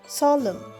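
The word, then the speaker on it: solemn: পরেরটা এস ও এল ই এম এন সলম এখানেও এনটা কিন্তু সাইলেন্ট উচ্চারণ হচ্ছে না সলাম মানে গম্ভীর বা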